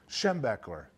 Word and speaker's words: Schembechler: that guy's name how do you say it schambach I go come on dad weird allama weird Schembechler I don't want you go there so I